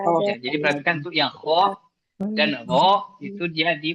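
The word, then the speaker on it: خ: Kho itu di ujung tenggorokan atas. Ini ada bawah, tengah, atas. Kho. Karena banyak yang terbaca kho-nya itu, banyak yang membaca kho dan ro itu di tempat huruf G-nya Indonesia. G, kho. Jadi sudah di langit-langit jatuhnya, bukan lagi di tenggorokan atas.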